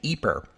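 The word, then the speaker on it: Ieper: name of this town I mostly use the pronunciation eeper back in episode 92 that's the Flemish name for the town and since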